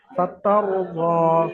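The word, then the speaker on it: فترضى: সাকিন ডান দিকে জাবার, রকে পুর করে পড়তে হবে, অর্থাৎ মুখ গোল করে পড়তে হবে। ফাতারদা, ফাতার মুখ চওড়া হবে না, বারিক হবে না, ফাতার দ হবে না, ফাতার মুখ গোল হবে, ফাতার দ।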